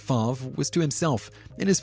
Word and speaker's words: Favre: The First Completed Pass ever thrown by Brett Favre (note to Simon- pronounced “Farv”) was to himself… In his first official play